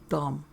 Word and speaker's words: dumb: not how you spell dumb dummy I informed her between peals of guffaw it has a B at the end which is silent you know Betty Jo